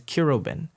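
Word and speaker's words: Quiroben: My real name, I don't like saying my real name, but my my government first name is Kiroben. That's spelled Q-U-I-R-O-B-E-N.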